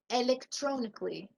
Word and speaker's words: electronically: Electronic, electronically. And not Kalia, because the A is silent when we have LLY.